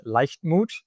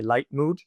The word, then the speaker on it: Leichtmut: And my business is called Lifemood. Uh, but I think for, you know, ease of talking, let's just say light mood.